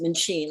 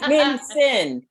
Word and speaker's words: Mincin: No, it is not pronounced Mincin like the rest of my husband's relatives want to call it. I'm like, there's no CH in there. It's Mincin.